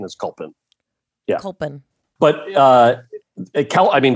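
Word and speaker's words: Kalpen: to pronounce it is called but the right pronunciation is culpin but uh kel i mean kalpin is sort of the angle-sized pronunciation and so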